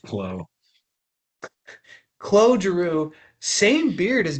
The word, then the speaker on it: Claude: Claude Way with a nice beard. pronounced Clo.